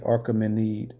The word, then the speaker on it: Achaemenid: ruled together, called the Medo-Persian Empire, aka the Achaemenid Empire.